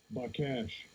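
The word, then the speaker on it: בקש: By cash. By cash. Oh, that's how it's pronounced.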